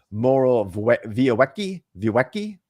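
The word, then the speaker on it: Morawiecki: say his name uh minister moro via vyweki because in polish the w is a v uh said this about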